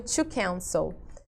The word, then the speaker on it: cancel: A mesma coisa aqui, ó, o verbo to cancel. Eu falo to cancel ou to cancel? Eu falo to cancel, né? Então, aqui está a minha sílaba mais forte, no can, tá?